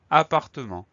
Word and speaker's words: appartement: On a un T final qu'on n'entend pas, un T muet.